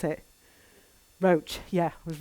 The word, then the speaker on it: Roche: used at um roche raw how do you pronounce it roach yeah it was right first time and then